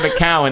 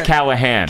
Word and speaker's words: Callahan: cannot accept that no because it's not Mallen it is Callahan Callahan and that is very